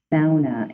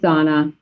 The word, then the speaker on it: sauna: that sauna is pronounced sauna, and that I did actually go to Finland, and that is how they pronounce it.